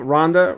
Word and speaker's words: Ronda: Well, Ronda rhymes with Honda, and Ronda Rousey, she's beautiful and tough, like my motorcycle.